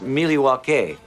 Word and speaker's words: Milwaukee: Indian name the espied it is actually is pronounced Milwaukee which is Algonquin for the good land I